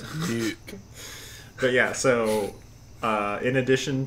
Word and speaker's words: NUC: It's nuke.